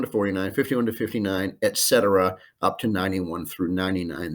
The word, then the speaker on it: y: from the first handout e2 and u a one letter word letter y pronounced e that's and in spanish so 30 is trenta